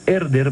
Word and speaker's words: Herder: en 1987 por la editorial herder con h que no se pronuncia editorial erder Barcelona 1987 hay una reedición